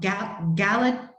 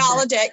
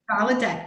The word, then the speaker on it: Gallaudet: degree in linguistics from Gallaudet University in Washington, D.C. I know I completely mispronounced that. Gallaudet University. Gallaudet, thanks, Gina.